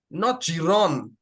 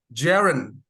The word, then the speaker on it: Jaren: So for example, it is not Giron, Jason and Dylan, Eureka, not Giron, yeah, but Jaren.